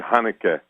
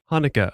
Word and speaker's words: Haneke: academy awards taught us has more than one pronunciation which one do you go for uh it's supposed to be hanukkah hanukkah okay and and as for the first name um michael okay the stan standard michael hanukkah okay because i heard a few different pronunciations